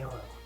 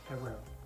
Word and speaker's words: erreur: So erreur could be erreur, two R's, so pronounced in one, like erreur, not erreur. It sounds like you're barking.